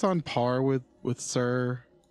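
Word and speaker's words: Suhr: or a whitfill or is this sir or sure sure is the microphone brand sir it's a guitar brand like like pardon me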